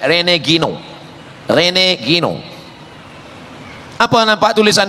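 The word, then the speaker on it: René Guénon: Cara bacanya Renegino.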